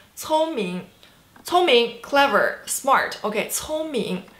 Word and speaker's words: 聪明: So 聪明, first tone, second tone. 聪明, 聪明, 聪明, 聪明, clever, smart. Okay, 聪明, first tone, second tone. 聪明, you're very smart.